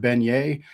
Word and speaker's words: beignet: And I love the book specifically because it rhymes the word beignet, I think, with the word play, and it has to